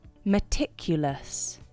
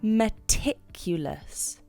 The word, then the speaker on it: meticulous: can say instead meticulous meticulous the pronunciation is mertif it's a four syllable word and you can lay stress on the ticulus meticulous wow i love your